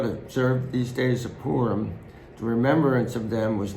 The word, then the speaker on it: Purim: And you would actually pronounce it Purim, but in English we say Purim, after the name of Pur.